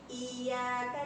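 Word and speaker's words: إِيَّاكَ: Ini jika ya biasa tidak bertasydid seperti ini, maka ini baca ya, Ya, tapi jika bertasdid, maka jika diartikan dalam bahasa Indonesia itu menggunakan dua huruf Y. Iya, iya, ya. Iyyaka na'budu.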